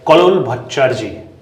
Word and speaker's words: Kallol Bhattacherjee: This is Nehru's First Recruits by Kallol Bhattacherjee. Thank you.